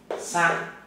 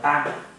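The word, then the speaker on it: 三: Sang là 3, có người gọi là tang, dài ngắn và cái nét dưới cùng là dài nhất.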